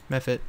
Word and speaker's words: Mephit: Oh, we got some ice method corpse. Am I pronouncing that right? Method? Yeah, method. Mephit. Okay.